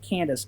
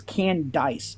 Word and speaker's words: Candace: It's not Candace. It's Candice. It's Candice.